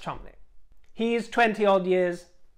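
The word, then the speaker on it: Cholmondeley: chumley famously it's written cho mondly but it's pronounced chomny he is 20 odd years her senior she's 37 now he's 61.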